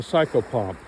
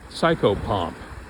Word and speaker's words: psychopomp: of the things I do is I'm a psychopomp and you can go look it up I'm not going to spell well I'll spell it uh psycho PS y c h o p m p psychopomp Yung talks about it other people talk about